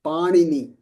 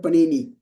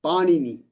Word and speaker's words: Panini: So the word, we want to pronounce it as Panini. Okay, and I'll talk about that. Not Panini, Panini.